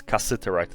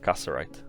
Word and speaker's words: cassiterite: i wrote it wrong i mispronounced it it's cassiterite not casarite and it is found